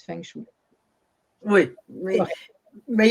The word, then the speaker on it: feng shui: Oui, fait que c'est la bonne prononciation, Feng Shui. Il y a encore beaucoup de gens qui disent Feng Shui.